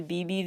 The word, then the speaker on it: Bbi Bbi: particularly well in the BB video that's spelled BBI BBI like this the sound a pager makes or something the sound a phone